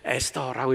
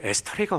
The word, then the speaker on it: 에스테르: 근데 에스더라고 이렇게 하면 좋겠는데 에스더라고 하기가 좀 밋밋해요. 다 아는 것 같아서 그냥 히브리 발음으로 썼습니다. 그래서 에스테르입니다. 장로님들이 물어보더라고요. 에스테르가 뭡니까?